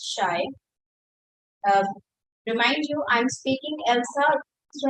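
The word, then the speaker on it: Else: Remind you, I'm speaking Elsa. Do not write it last word A. Okay, because I'm pronouncing it like the way it's pronounced, not the actual spelling.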